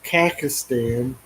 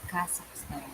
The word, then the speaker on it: Kazakhstan: My wife had actually been to Kakistan. How do you say it? Kazakhstan.